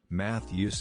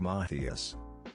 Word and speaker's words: Matthias: matthias's name i realized i had been pronouncing it wrong in my head the entire time math use instead of mathias doe hung my head